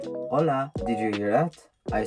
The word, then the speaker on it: hola: Mexico and then there the H is always silent so for example if you're going to say hola did you hear that I said hola not hola if you